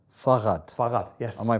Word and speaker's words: Fahrrad: I think it's Fahrrad. Fahrrad, yes. Am I pronouncing it right? Yes, very good. Yes. Fahrrad.